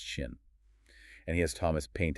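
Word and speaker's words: 心: It's the character for mind or heart, pronounced shin.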